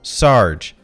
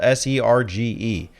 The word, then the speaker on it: Serge: It's spelled S-E-R-G-E. But apparently it's something closer to Serge. The Japanese hiragana reading is Serge. So I'm going to call him Serge.